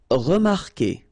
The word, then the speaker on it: remarquer: Okay, remember that when we've got this Q and after that, well, vowel like here. Anyway, you've got to put this vowel U even if you don't pronounce it. Okay, so it will go like K, K. Okay, remarquer, remarquer.